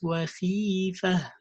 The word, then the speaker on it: خيفة: It's not khifa. No, it's khifa. It's not khifa. No, it's khifa.